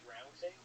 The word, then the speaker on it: drowning: did you just say the word drowning? Did I say the word drowning? Good one. Did you? What's wrong with that? How do you say that? Drowning. Drown. No E at the end.